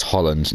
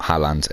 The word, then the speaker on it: Haaland: Yeah, the way you pronounce his name is Holland. Even though it looks like it's saying Haaland, it's Holland.